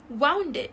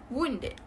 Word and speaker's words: wounded: People mispronounce this as wounded instead of wounded. Okay, for wounded, this will require you to open your mouth and say wow and then adding N at the back. This is not the correct pronunciation.